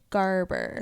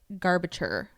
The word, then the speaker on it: Garber: Yes, by Stephanie Garber. Yes, I'm so glad you remembered. I always want to say like garbature. Like I want to add a whole extra syllable. It's not there.